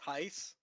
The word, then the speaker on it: Tice: I'm sorry, but actually it's pronounced Tice. It's Jim Tice, apparently.